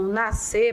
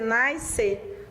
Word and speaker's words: nascer: O SC e o XC, eles são dígrafos. Então, na verdade, o que você tem são dígrafos, duas grafias, né, duas letras, mas com um só som.